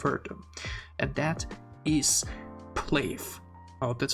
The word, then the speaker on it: PLAVE: you will have heard them, and that is PLAVE. Oh, that's how you pronounce it.